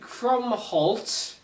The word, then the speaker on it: Krumholtz: So I didn't mention in the first Santa Claus video, but the main elf, Bernard, who's played by David Krumholtz.